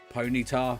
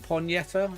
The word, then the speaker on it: Ponyta: going strong though yeah so like some people say pone uh Pon Yeta sums obviously say ponytar Kai just said Pony tattoo Shucks shucks but yeah